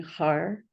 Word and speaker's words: har: And this is pronounced H-A-R. I'll type it here. As you pronounce it, it's going to be similar to the way the R in guru is pronounced, where you put the tongue up on the top part of your mouth, like right behind the teeth.